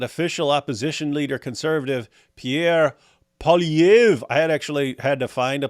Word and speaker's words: Poilievre: I'm still getting it wrong, but apparently they don't pronounce the re at the end. Don't know why they put it on there.